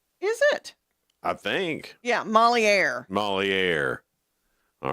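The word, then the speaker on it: Molière: Yeah, Moliere.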